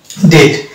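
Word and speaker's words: debt: বি কে sign পাবো যেমন ডেট এটা কিন্তু বি এখানে চলিত হবে না এটা উচ্চারণ ডেট ডাউট সাটেল এখানে বি উচ্চ থাকছে এবার কিছু শব্দ দেখব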